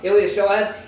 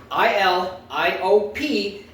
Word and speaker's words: iliopsoas: If you want to look up iliopsoas, it's ILIOP I'm going to say that again. ILIOPSOAS. Yes, the P is silent.